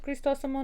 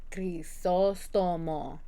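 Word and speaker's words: Crisóstomo: Can I hear the difference with Cristosomo? No. Will my friends who watch this be like, it's Crisostomo? Yes, they will. Or they'll text me it and be like, girl, you're still saying it wrong.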